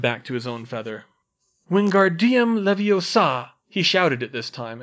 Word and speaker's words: Wingardium Leviosa: down by the wrist Ron you're saying it wrong she snapped and you're going to put someone's eye out like mine it's Wingardium Leviosa you need to swish from your wrist and make the GAR nice and long while you're